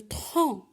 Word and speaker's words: tronc: Parfois, à la fin du mot, la lettre C ne se prononce pas. Comme par exemple le tronc, blanc.